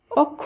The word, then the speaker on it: অক্ষ: অধ্বনি হিসেবে করতে হবে তাই অক্ষীয় অক্ষ নয় শব্দটির শুদ্ধ উচ্চারণ হবে অক্ষ একইভাবে অক্ষর পক্ষ দক্ষ